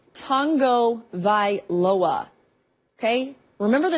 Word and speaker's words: Tagovailoa: Yeah, it is Tagovailoa.